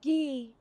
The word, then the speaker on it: Guy: It's pronounced Gee, actually. Common mistake.